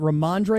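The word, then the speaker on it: Rhamondre: And he had, is it Ramondre?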